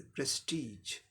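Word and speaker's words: prestige: तो क्या हो जाएगा, प्रेस्टीज, प्रेस्टीज, सेकंड पर जोड़ देते हुए प्रेस्टीज।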